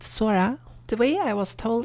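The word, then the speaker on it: 空: Next up we got sky, which is pronounced sora.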